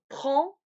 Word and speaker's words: prends: Je prends, tu prends, il, elle, on prend. C'est une nasale du A.